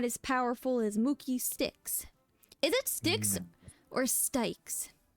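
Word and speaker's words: Styx: G4 form isn't cool sticks like the river okay okay like the river sticks I also used to pronounce it as stes so okay I pronounce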